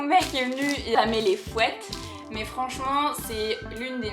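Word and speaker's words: fuet: le fouet alors oui ça s'écrit F u e t mais ça dit fouette les gars ok ça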